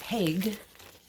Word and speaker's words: Haig: It's not like I've never seen or heard the name before, but I looked at it and I wanted to say hi, and it's Haig.